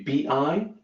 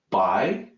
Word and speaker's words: 必: this character is B and opinion will be bi B it's not pronounced by a lot of times we look at that